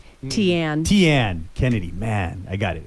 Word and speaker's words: Tiane: And we also have now in the studio, I believe it's, let me see if I'm pronouncing it correct, Tiane? Tiane Kennedy.